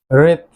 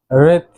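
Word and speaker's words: wreath: যে ডাব্লিউ লেটারটি রয়েছে, এই ডাব্লিউ লেটারের কিন্তু উচ্চারণ সাইলেন্ট থাকবে। অর্থাৎ আমরা যখন এই শব্দগুলো উচ্চারণ করব, তখন ডাব্লিউ লেটারটির উচ্চারণ হবে না। সো চলুন পরবর্তী ওয়ার্ডগুলো শিখে নেওয়া যাক। রেত, রেত পুষ্প স্তবক, অর্থাৎ ফুলের তোড়া বা ফুলের মালা।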